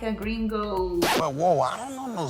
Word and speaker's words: gringo: Gringo? Is it gringo or gringo? Gringo, okay? That's the right way to say it. Gringo. Remember, O's are short.